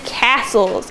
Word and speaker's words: castle: Knights rode on horses and helped defend castles. Everybody touch the castle. All right, so castle is a tricky word. So if we sound out castle, it's going to be k-ass-ool.